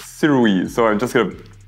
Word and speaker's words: Sirui: from Siri Siri uh okay so apparently it's sirui so I'm just going